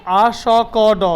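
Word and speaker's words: asked: where are you going কোথায় তোমরা যাচ্ছ উইথ দোজ হেভি থিংস ওই সমস্ত ভারী জিনিসগুলো নিয়ে আসকড, হ্যাঁ উচ্চারণটা হবে আসকড মানে আস্কড আস্কড আমারও ঠিকঠাক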